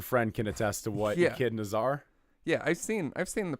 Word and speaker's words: echidna: I always want to say enchilada. He's an Knuckles the enchilada. He's an echidna. That's how you say that? Yeah, echidna.